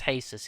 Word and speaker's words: Jesus: I'm pronouncing this right hesus Spanish Mexican Portuguese not quite sure but it's hesus it's spelled Jesus and he made a